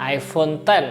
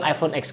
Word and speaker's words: iPhone X: tahun 2017 barengan sama iPhone 10 atau kalau banyak orang bilang iPhone X Karena nulisnya gini ya nah jadi setahun lebih